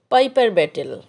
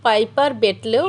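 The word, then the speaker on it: Piper betle: মানে বৈজ্ঞানিক নাম হচ্ছে পাইপার ব্যাটেল অনেকে অবশ্য পাইপার ব্যাটলেও উচ্চারণ করে কমন ইংলিশে এটাকে অবশ্য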